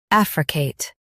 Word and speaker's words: affricate: Africate. Stress AF and say Kate clearly.